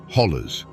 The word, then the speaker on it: hollow: Or as the locals say, hollers.